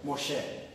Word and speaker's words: Moshe: Moses é mais para grego e árabe. Os gregos e árabes vão chamar de Moses. E o hebraico moderno, Moshe.